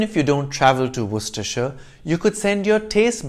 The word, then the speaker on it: Worcestershire: midlands region of england with the name spelt w-o-r-c-e-s-t-e-r-s-h-i-r-e do not pronounce it as were sister shire it's worcestershire perfectly logical right even if you don't travel to worcestershire you could send your taste buds on a